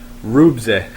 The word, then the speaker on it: Ruebzehh: And his name is Rubze. It's spelled capital RUEBZEHH.